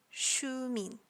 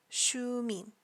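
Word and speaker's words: Xiumin: his stage name is Shu mean Shu mean now you may notice there's three characters but it only sounds like I'm pronouncing two individually they are SI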